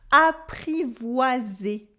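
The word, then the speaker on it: apprivoisé: of a mutual trust a privacy good with a wah sound in the middle a private a privacy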